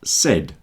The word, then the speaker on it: said: And said. There are three sounds in this as well. S, e, d.